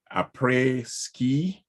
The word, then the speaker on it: Après Ski: She landed the role of CEO in Slice's reality TV show, Après Ski.